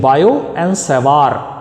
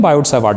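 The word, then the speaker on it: Biot–Savart: इसको general pronunciation बायो एंड सेवार बोलते हैं, लेकिन हम इंडियन प्रोनाउंसिएशन में बायोट सेवार्ट बोलते हैं.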